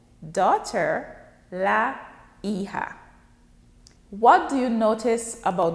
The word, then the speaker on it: hija: Daughter, la hija. Remember, the H is silent in Spanish. The J is pronounced as H.